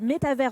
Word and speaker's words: métavers: juste avant qu'on commence je crois qu'on dit métavers en français et metaverse en anglais c'est bien ça oui